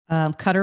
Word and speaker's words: Qatar: a qatarian or not do you say katarian cutter right cutter rich so i don't know